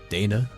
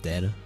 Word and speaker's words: Dana: bar is that true Dana not data yeah I think you